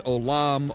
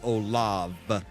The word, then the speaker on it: Olav: So a lot of people say it's Olam or Olav. It's like, no, it's Olav with a V.